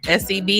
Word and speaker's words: Sebi: What you guys Sebi, how we pronounce it? I always say what doctor I'm talking about. Sebi.